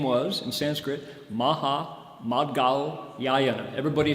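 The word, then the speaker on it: Mahāmaudgalyāyana: one in particular whose name was in sanskrit maha madgao yayana everybody say maha maha try it again maha mad gal seven syllables that's his name so what do we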